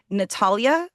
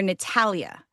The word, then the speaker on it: Natalia: Um, but you can either say Natalia or Natalia.